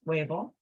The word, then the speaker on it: huevo: potato and huevo egg remember the H is silent wavel La tostada yogurt this